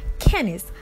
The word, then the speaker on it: Kennis: a lot why because it rhymes with my name Kennis Tennessee I got you